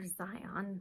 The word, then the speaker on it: Zion: is Dionne and our Xion that's how you say it silly like the park in Utah um so just think